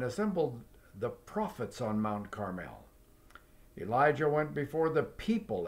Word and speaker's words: Carmel: Now, summon the people from all over Israel to meet me on Mount Carmel. We pronounce it Carmel, but over there in Israel they call it Carmel.